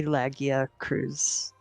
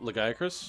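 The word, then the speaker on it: Lagiacrus: the armor sets that looks really cool ivory laggia cruise oh legiacris yes the guy chris the guy yeah well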